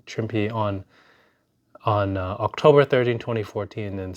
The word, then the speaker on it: Trimpe: No, it's not. There's no accent on the E. Trimpe on October 13, 2014, and Stan the Man, November 2nd, 2014, and Frank Miller on Feb 2026.